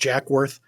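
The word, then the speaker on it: Jacques Werth: It's spelled Jacques, but it's pronounced Jack Worth.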